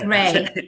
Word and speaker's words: Rei: Um I believe it's it's pronounced Ry, right? Just Yes. Yes. Ray.